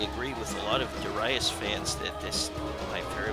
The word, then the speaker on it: Darius: daras and I used to always call it Darius but I believe it is supposed to be pronounced duras and the uh the enemy forces uh wiped